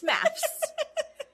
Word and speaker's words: MAFS: I hear it as like someone who's British saying maths. Oh. It's MAFS.